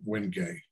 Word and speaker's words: wenge: the past couple of years have had the wenge it's called spelled w-g-n-g-e but pronounced when you get it and heavy also